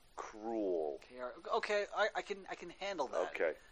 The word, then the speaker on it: Krule: But it's spelled Krule. Cruel.